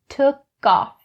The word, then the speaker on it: took off: So the pronunciation you need to keep in mind for this phrase is the connecting between took and off. The k in took is connected to off. Took off.